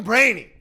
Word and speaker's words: Breheny: thing all right so my Instagram is brainy it's pronounced it's pronounced brainy but spelled like brany yes uh I've been